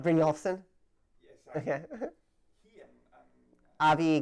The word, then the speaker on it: Brynjolfsson: In fact, bro, I'm sorry, I don't know how to pronounce. Brynjolfsson?